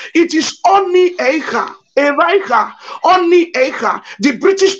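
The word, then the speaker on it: Onitsha: It is Oni Eicha, Eicha, Oni Eicha. The British people could not pronounce it. They call it Onisha.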